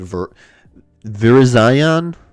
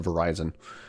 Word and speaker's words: Virizion: This is just literally named Virizion. Virizion. I always just called it Verizon.